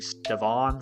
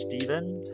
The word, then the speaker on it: Stevan: People have been messing up my name my whole life because it's spelled with an A. They've been calling me Stevan forever. My name is Steven.